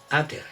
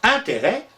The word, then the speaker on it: intérêt: Au début, il se prononce interest, un peu comme les Anglais qui eux aussi d'ailleurs se sont inspirés des Romains. Et puis peu à peu, ce interest va acquérir sa prononciation actuelle, intérêt. On prononce intérêt, mais on continue à l'écrire avec un S.